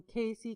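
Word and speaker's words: Cayce: Jones he was from Casey Kentucky pronounced the same as Casey c a y so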